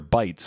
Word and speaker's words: bite: were like yeah they're bites obviously because it says bite in the card and it rhymes with fight it's fight and bite